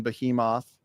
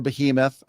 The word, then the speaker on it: Behemoth: I've been posed the question on Behemoth or Behemoth. I've seen it pronounced different ways.